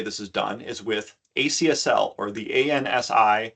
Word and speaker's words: ACSL: is done is with acsl or thei C specification language you might also hear this r as or pronounced as axle acsl is a first